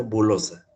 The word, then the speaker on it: bullosa: dilatación en concha bullosa, se pronuncia bulosa.